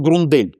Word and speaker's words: Grundell: На самом деле он Грундель, Даниэль Грундель, правильно его произносить.